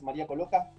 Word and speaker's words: María Colloca: Tenemos una invitada que es María Coloca, ¿se pronuncia así? Sí, así se pronuncia.